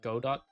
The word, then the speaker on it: Godot: Godot? Godot? Is it pronounced Godo? I remember... Because I remember him in the anime. Or like the animated version. Okay, yeah, Godo.